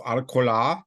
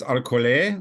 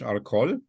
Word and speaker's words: Arcole: or like you know, the Battle of Arcola, which did not exist. It's Arcolay, or say it like the French, Arcole, maybe, or like the Battle of Auerstadt, which doesn't exist.